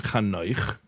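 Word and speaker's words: חנוך: Don't say Enoch. Please don't say Enoch. Say, okay, his name is Kano. That's how to pronounce it.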